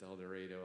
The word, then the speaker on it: El Dorado: back saying to myself, it's El Dorado, El Dorado, El Dorado, because Governor Sanders said she would leave me here if I said it wrong.